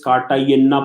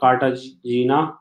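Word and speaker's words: Cartagena: Next one country is कार्टागेना protocol. It इज नॉट कार्टाजीना, right? So up to you how to pronounce it.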